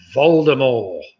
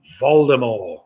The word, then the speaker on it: Voldemort: with a literary surname voldemort voldemort and that's spelt with a t at the end of course but it's supposed to be pronounced silently so there we have